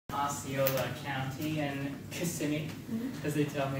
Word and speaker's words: Kissimmee: Osceola County in Kissimmee, as they tell me how it's said.